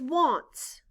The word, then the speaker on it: wants: a n t s in this word the letter a stands for the short o sound ah and the